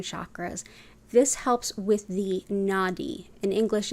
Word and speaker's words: Nadi: system than seven chakras this helps with the Nadi in English it's spelled n-a-d-i and those are the very very